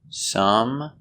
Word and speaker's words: some: Both are spelled with O and both are pronounced Some, money.